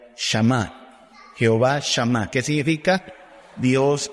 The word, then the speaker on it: Shammah: los del Reina Valera tradujeron así, Sama, pero es Shama. Todavía lo consulté esta tarde. Un hebreo pronunciaría Shama.